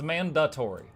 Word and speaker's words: mandatory: example man dantor I I 100% thought the word was Man Dan with an N Tori turns out it's it's not turns out it's mandatory there's no there's no second n so I was saying it wrong for a long time and